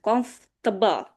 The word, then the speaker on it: comfortable: Jadi, bacanya langsung cepat comfortable. Gak perlu ada for-nya, comfortable disingkat langsung.